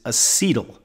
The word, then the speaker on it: acetyl: it for you a so it sounds the same but spelled slightly different e t y l Co c-o-a sorry okay so this is acyl this is acetyl so beta oxidation turns